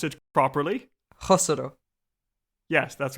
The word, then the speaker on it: Khosrow: Instead of a k, it's meant to be like a Spanish J. So pronounce it properly. Khosrow.